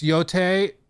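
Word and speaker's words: Yōtei: It's Yote. Okay, Yote. That's how it's pronounced.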